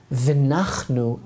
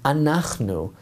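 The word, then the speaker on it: אנחנו: 16 and verse 7, V'nachnu ma, for what are we that you should complain against us? The correct word for we is anachnu, but Moshe did not even pronounce the Aleph.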